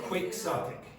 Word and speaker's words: quixotic: In English you say Don Quixote, but this is pronounced quixotic. Quixotic.